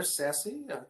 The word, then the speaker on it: SASE: You know, you see it pronounced there, SASE. It's actually spelled S-A-S-E.